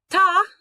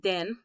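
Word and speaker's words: 田: Ta, sometimes pronounced den.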